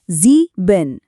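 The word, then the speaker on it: sieben: फिर है इश नरम च के साथ यह बना इश चौथा जीबिन इसमें इ और एस दोनों के नियम लगेंगे तो यह बना जीबिन और आखिर में हमारा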